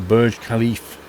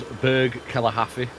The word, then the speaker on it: Burj Khalifa: The Burj Khalifa. That's it. Now you say it like that, I'd say that as Berg Kalahari.